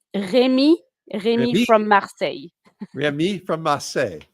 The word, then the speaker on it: Remy: Remy. So it's Remy from Marseille.